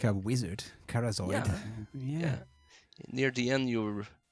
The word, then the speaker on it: Kharzoid: out but I want I tried to rhyme with arcanoid oh maybe should rhyme moment yes arcanoid carzoid yeah maybe that's what I thought uh I I wasn't sure I wanted to to rhyme with aroid scoid maybe that so it's Unique and it rhyme with Aran and it's a great